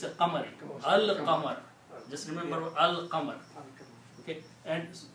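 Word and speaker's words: الْقَمَر: Qaf did not do anything to the lam. So you pronounce Al-Qamar. Then you look at the Surah Shams, وَالشَّمْسِ وَضُحَاهَا.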